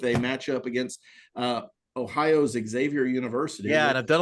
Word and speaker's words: Xavier: couple of days that Xavier does not start with an eks it's spelled with an X it's like no ex savior I understand how it phonetically sounds yeah trust me on